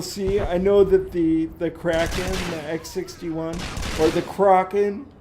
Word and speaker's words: Kraken: You'd think that she would know that, you know, it was pronounced Kraken, like hanging out with all this Newegg nerd.